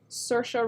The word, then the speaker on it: Saoirse: But Sorsha, is your name like Saoirse Ronan's, but you spelt it phonetically, or is your name spelt Sorsha?